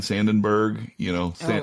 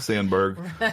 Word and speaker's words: Sandberg: I think of Kobe Bryant, Ryan Sandenberg, Sandberg. I pronounced it like Harry Carey.